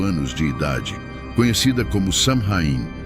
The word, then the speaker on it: Samhain: de idade conhecida como samhain pronuncia suin realizada por povos da